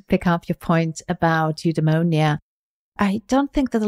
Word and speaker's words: eudaimonia: And it's interesting because in Greek, actually, eudaimonia, as Greeks pronounce it, it means to be in sync with your demon.